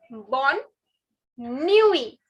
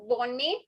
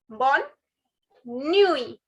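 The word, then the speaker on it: bonne nuit: say good night say bon nui bon nui again it is not bonnie it is bon bon bon new e the last t is silent guys don't pronounce it bon nui bon nui i'll repeat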